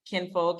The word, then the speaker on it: KINxFolk: So I do have an IMDb, but you can find me at KINxFolk, and KINxFolk is spelled KINxFolk on IG. The X is silent, and I'll tell you guys why the next time I'm around.